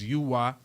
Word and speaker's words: Uy: That's UY. I pronounce it Uy.